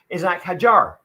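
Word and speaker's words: Isack Hadjar: Well, pronounce his name correctly, seeing as how it's the last show, Isaac Hadjar.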